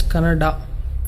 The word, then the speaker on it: Kannada: Once I saw a video where people were fighting whether it's Kannada or Kannada. People from North India should understand that it is pronounced as Kannada.